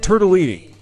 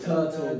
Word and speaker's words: tortellini: making my Italian roommate think we cooked the turtle to make tortellini. Yes, I won. Okay, brilliant. Sarà perché ti amo. Tortellini. Tortellini. Okay, turtle. There's a reason why it's tortellini.